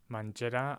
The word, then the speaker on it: mangerà: The pronunciation doesn't really change. Mangiare, mangerà. Either way, it's a j followed by that vowel.